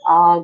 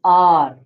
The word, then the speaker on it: are: Skills Steer help us to achieve our goals.